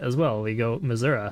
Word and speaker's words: Missouri: yeah the state's called Missouri and I'm like no if you're going by the French pronunciation it's misura and that's how everyone in the state pronounces it as well we go mura right and they're like